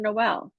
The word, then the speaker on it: Noel: your last name wrong so it's Lincoln Noelle Noelle yeah no so my apologies